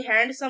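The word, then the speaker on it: handsome: तो आप कितना भी हैंडसम नहीं होता हैंडसम होता है डी साइलेंट होता है तो हैंडसम बोल रहे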